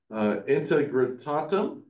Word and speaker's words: integrum: if I butcher it Margaret integrum yeah that's right it has to do